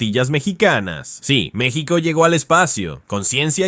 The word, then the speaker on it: México: En su origen Nawatle, México, se decía México, con una esishi que evocaba el sonido del viento.